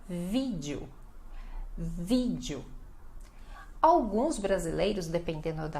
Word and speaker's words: vídeo: É no vi, então você tem que falar vídeo, vídeo, dando ênfase na primeira sílaba, tá bom?